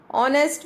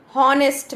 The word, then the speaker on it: honest: Then what about honest man? I wrote an here. Why? Because H is silent here. I am not saying honest man.